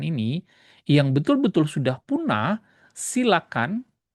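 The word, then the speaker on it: coelacanth: Tidak seperti ikan-ikan ini yang betul-betul sudah punah, silakan bacanya silakan ya, bukan kol koacan enggak ya.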